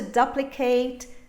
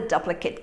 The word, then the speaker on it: duplicate: duplicate we have to duplicate the key it's a verb now as an adjective i have the duplicate key here i have the duplicate